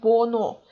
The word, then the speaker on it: 번호: The same is here in the word 번호. You don't read h because there is n here in Pachim, and after the letters l, m, n, n, the letter h is not pronounced.